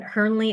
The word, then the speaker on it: Hirnle: And again, Hearnley is spelled H I R N L E.